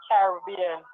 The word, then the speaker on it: Caribbean: Well, because I am a Jamaican, I pronounce it as Caribbean.